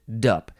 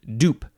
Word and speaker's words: dup: blah blah blah blah you can't pronounce it dup you have to pronounce it dupe because it's duplex and duplicate wow the next word